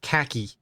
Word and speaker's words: khaki: cool uh crazy kanu it's just you North Americans that pronounce it weird I say with a grin uh outside of North America no one pronounces it khaki cuz the H making a long ah sound oops that needs to